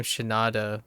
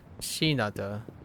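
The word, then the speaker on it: Shinada: correct syllables in names I keep calling him shanata but uh it's shinata and if I go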